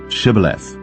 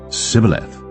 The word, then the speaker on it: Shibboleth: Then said they unto him, Say now, Shibboleth. And he said, Sibboleth, for he could not frame to pronounce it right.